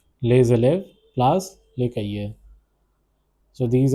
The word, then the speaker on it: élèves: This is pronounced as élèves. Les élèves placent les cahiers.